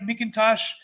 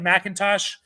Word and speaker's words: McIntosh: Kenny Macintosh felt like mckintosh I think pronounced like Macintosh um both sharan a